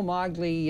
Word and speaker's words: Magli: guess would be molly g before allen italians is silent it didn't match the bruno yeah bruno maglis that's right bruno mogly uh shoe print didn't match it ergo what